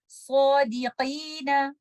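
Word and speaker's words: صادقين: Don't make it ki, because this is a kaf. This is a qi. So we will recite it like this. Sadiqina.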